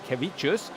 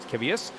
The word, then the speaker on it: Kevicius: And I should say his surname, actually pronounced correctly, is Andrus Kevicius, not Kevius.